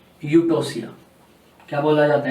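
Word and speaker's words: Eutocia: You word ज़्यादातर यूज होता है इनके अंदर, ई साइलेंट है, यू बोला जाएगा। नॉर्मल लेबर प्रोसेस को यूटोसिया बोलते हैं।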